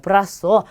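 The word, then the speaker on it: brazo: 브라소. 자, 여기 부분에 그냥 비읍 발음을 넣어서 발음하시면 되겠죠. 그래서 브라소라고 하는데 이 브라소는 우리 사람 신체 부위 중에 팔을 뜻합니다.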